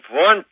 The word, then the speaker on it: Wundt: Well, Wundt is how it's pronounced, although it's spelled Wundt.